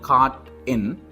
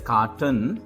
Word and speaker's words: Cart N: So, if you take this particular company which we have, it's called Cart N. We can't pronounce it as carton because carton is a separate product.